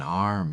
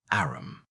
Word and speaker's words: arm: "Sure, it's an arm, Yer Honor." He pronounced it arum.